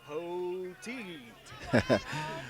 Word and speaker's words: Poteet: Poteet.